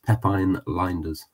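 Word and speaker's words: Pep Lijnders: as well afterwards and apparently in Dutch that is how it's pronounced it's Pepin liners apparently it's like the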